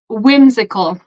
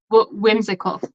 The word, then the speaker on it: whimsical: So whimsical. We don't pronounce W. Yes, we do. Whimsical.